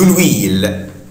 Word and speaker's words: huile: بار اكزومبل، على سبيل المثال، nous avons de l'huile. Nous avons de l'huile. Nous avons de l'huile. احنا عندنا ويل يعني زيت. ويل طبعا هنا الاش مش منطقها، طبعا بتعامل معاملة لليتر فويل، طبعا هنا الاش مويي، فهتبقى طبعا nous avons